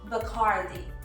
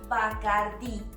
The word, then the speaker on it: Bacardí: Many people, when speaking English, do not accentuate the í, and that's why it sounds like bacárdi, but it is not bacárdi, it is Bacardí.